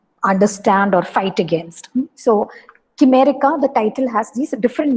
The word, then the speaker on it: Chimerica: So that way you can call it Chimerica as well. But you can, I think it is actually pronounced Chimerica because it is also related to the idea of chimera, Chimera, which is supposed